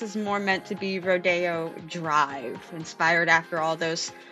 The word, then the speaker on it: Rodeo: The next one is spelled R-O-D-E-O. Some people might want to say Rodeo. I'm going to call it Rodeo.